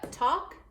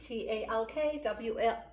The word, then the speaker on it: talk: read those two yep talk and walk talk and walk both have this L which is on therefore it doesn't doesn't tap out we don't think at